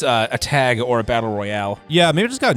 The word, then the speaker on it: Royale: whenever they do it, they pronounce it the Canadian way. How is that? Battle Royal instead of Royale, even though it has the E at the end, they still just call it Battle Royal.